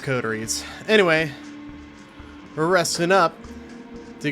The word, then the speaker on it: Coteries: codies of New York I kept saying codies but I'm going to try to correct that by saying codies instead I think codies sounds better than codies but it's pronounced codies anyway we're resting up